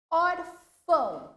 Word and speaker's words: órfão: Órfão, mesma coisa. O or é o pronunciado com mais tonicidade.